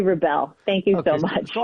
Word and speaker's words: Rebell: you for asking josh it's rebelle thank you so much